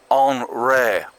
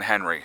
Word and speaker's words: Henri: If it starts with H-E-N, I'm thinking Henry, okay? So, you know. But apparently the French call it Henri! Henri!